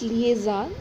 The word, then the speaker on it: lien: cor first of all the correct pronunciation is Lian and after that uh